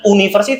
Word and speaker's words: university: itu karena cara bacanya bunyinya kayak huruf y ya ada huruf y-nya di situ seolah-olah University bukan University tapi University jadi cara